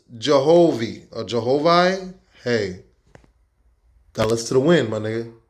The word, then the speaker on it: Jehovih: Which is now pronounced Jehovih or Jehovih.